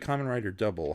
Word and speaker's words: Kamen Rider W: So, in Japanese, the letter W is pronounced double, and it doubles as the word double.